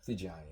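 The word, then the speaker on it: Figgiani: Yeah, I don't mind being called Fig or Figiani, but if you're spelling it in Italian, the double G is soft G like a G. So Gotcha. like a J, actually. Figiani, yeah.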